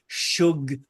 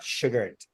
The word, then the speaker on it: Shugart: Shugart is spelled Mhm. Shughart. Shughart, Ooh. not Sugart.